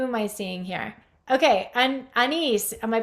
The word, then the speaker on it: Anis: Okay, Anis, am I pronouncing your name right?